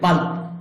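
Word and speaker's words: bulb: বাল্ব, বাতি, ভি উচ্চারণ হবে দুই ঠোঁট একত্রিত হয়ে, বাল্ব, বাতি।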